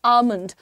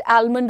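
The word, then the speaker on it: almond: बादाम, जो कि एक ड्राई फ्रूट होता है, उसे हम अंग्रेजी में कहते हैं आमंड। Don't call it आलमंड, ऑलमंड etcetera, call it आमंड, L silent है।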